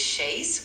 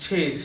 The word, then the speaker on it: chaise: In French, the letter C is often pronounced like an S before certain vowels, but when it's followed by an H, it creates the CH sound. So chaise starts with the letter C and it's pronounced with that CH sound.